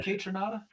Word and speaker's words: Kaytranada: Yes, are you familiar with Kaytranada? I am not, but you said that great, and that's how you say it.